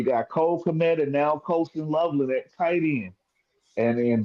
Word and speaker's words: Colston Loveland: when it comes to, this new what is Courtland Loveland is his name? Is that how you say it? Colston. Colston Loveland.